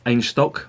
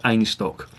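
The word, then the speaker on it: Einstök: well done I just Ange stock they pronounced it's pronounced a nice talk and own stock in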